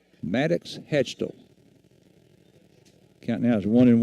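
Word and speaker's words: Hachtel: hitter Maddox hatch hatch hatcho hatcho leading off it's spelled h a c h t l Maddox hatchel count now as one and one had some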